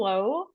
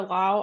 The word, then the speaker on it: Lowe: Nathaniel Lowe or Lau, I don't know how you say his name. I I think think it's it's low. low. I think it's low.